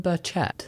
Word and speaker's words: Burchett: Tim Burchette, that's how you pronounce his name.